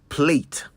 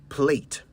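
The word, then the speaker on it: plait: is it plat or plate well it's spelled p l a i t but it's pronounced plat in British English the Americans however say plate some even say play now I know what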